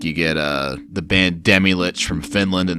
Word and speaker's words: Demilich: you get the band Demilich from Finland, and they actually pronounce it Demolich, and you get Isengard from Norway, they call their band Isengard.